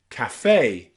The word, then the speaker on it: café: But here, that E on the end with the accent marker is always pronounced A, café, and pâté, okay?